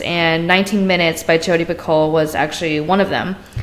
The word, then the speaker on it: Picoult: Picoult. All right. Not pickled. Not like she's a cucumber. No.